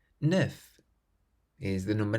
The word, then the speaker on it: neuf: The consonants at the end of these words are clearly pronounced.